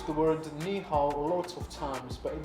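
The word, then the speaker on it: 你好: Meow.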